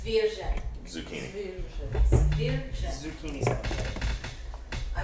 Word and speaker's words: Zwierze: That's how you pronounce it. Yes, dear. I don't know how you were saying it. It was Zwierze. Zucchini. Zwierze. Zucchini salad. I will throw something at you. Zwayze.